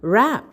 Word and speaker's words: wrap: It's w a p and we pronounce it as r a p wrap.